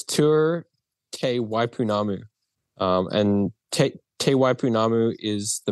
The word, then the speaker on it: Te Waipounamu: I'm not even going to try to pronounce it. So what is it called? You say it. So it's Tour Te Waipounamu.